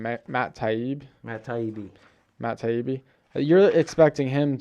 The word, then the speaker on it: Matt Taibbi: Matt Taibbi.